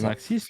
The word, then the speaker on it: Maxis: Eh bien, Maxis, c'est ça, comme ça qu'on prononce? Oui, c'est Maxis, les développeurs.